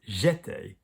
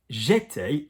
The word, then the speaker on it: étais: J'étais, J apostrophe E acute T-A-I-S, or tu étais, il était, is a different spelling, and that is the verb in the imperfect. But it sounds largely the same, été.